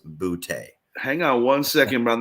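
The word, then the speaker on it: Boutte: is actually his name his last name is pronounced bootay hang on one second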